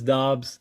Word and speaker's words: Dobbs: Yeah, Dobbs, and I believe that I've heard the correct pronunciation is Dobbs. I don't know what that U's doing in there, but yeah, man, how you feeling?